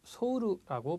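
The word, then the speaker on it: ソウル: 일본 사람들은 소우르라고 발음을 합니다.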